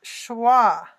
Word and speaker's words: schwa: it go Lisa okay it is schwa which is a German